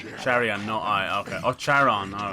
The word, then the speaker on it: Charon: no i okay oh charon all right the gods will release neither of us but is it like sharon or is it caron the h is silent in it bro you're getting slapped